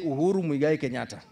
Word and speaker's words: Uhuru Muigai Kenyatta: Can you pronounce his names properly? Loudly? All of you together? Say Uhuru Muigai Kenyatta.